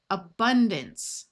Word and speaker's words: abundance: Abundance. Notice this A schwad and this A schwad, and the C has its soft sound of S because of the E.